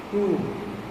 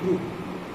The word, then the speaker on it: croup: Inhaled adrenaline is used in the treatment of क्रूप. Spelling is CROUP, क्रूप.